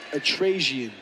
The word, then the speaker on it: Antrassian: Antrassian. Thank you for that. Antrassian, yep. My apologies. Oh, no. Antrassian. Oh, wow. Takedown almost straight to a set of back points, potentially fall, but Antrassian was able to roll over and avoid giving